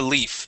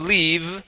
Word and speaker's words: leaf: go to Leaf okay give me a long e sound Le leave okay good with that F at the end so tremble like a leaf try that tremble like a leave okay instead of leave we're going to pronounce the F Leaf tremble like a Lea